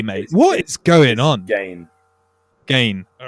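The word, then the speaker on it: Gane: And he pointed out in the Gan fight, or Gan, you know who I mean. What is wrong with me today, mate? What is going on? Gain.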